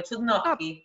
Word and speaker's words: Chudnovsky: yo te dije Chudnovsky, ¿cómo es la correcta pronunciación del apellido? Lo pronunciaste perfecto, Chudnovsky.